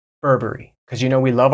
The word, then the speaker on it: Burberry: America we would say Burberry cuz you know we love our hard RS in America in England they might pronounce they'll be a little bit softer with these RS and they'll say Burberry Burberry Burberry Burberry you